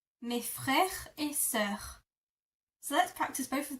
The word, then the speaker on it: sœur: And for sister, which I know is a tricky word because it has that weird O and E that are attached, this is how you pronounce it. So my sister is ma sœur.